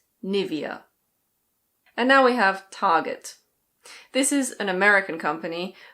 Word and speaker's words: Target: In American English you pronounce the R, so it's Target.